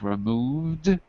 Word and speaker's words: removed: That's correct. Removed. Like a dog. D and dog.